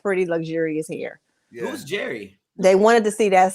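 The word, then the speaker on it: Jheri: time it wasn't like jerry curl like tom and jerry it's j-h-e-r-i yes yeah the the h is silent like like jerry from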